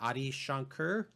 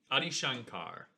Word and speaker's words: Adi Shankar: the same uh guy Ai Shankar. Adi Shankar.